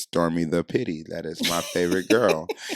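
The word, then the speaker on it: stormi_da_pitte: at s-t-o-r-m-i underscore d-a underscore p-i-t-t-e that is pronounced stormy the pity that is my favorite girl so now for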